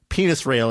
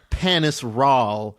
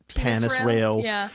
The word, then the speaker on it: Panis Rahl: character that we mentioned penis rail is we're saying was actually panis Rahl yeah though if you accept the naming convention of the TV show it might be panis Rael it's panis I'm sorry but you